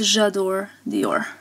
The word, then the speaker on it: J'adore Dior: It's J'adore Dior.